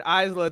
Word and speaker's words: Isla: Like, they finally figured out how to put Alba Fire and Isla Dawn together. We all knew they were a better tag team to be a rival. Stop pronouncing the S.